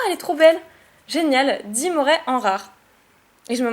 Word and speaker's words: Dimoret: Génial, Dimoret en rare. Et je me moque toujours de Nejan quand il prononce ce Pokémon, parce qu'il dit Dimorette.